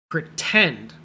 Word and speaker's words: pretend: Well, look at the word pretend. Pretend. In this word, the part tend is the part we say strongly. That's called the stress. In the stressed syllable, it starts with a T. So tend, t. You say pr weakly, pretend. And if it's a stressed syllable, then we make it T, pretend.